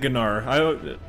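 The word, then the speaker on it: Gnaar: So he does pronounce it Gnar. I never knew if the G was silent or not.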